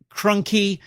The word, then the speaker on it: Crunky: by guest artist Andrew Crunky, rhymes with donkey, and new cover artist Lee Weeks.